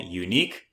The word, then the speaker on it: Younique: If you're on this video right now, then you're doing a bit of research on a company called Unique. That is spelled Y O U N I Q U E.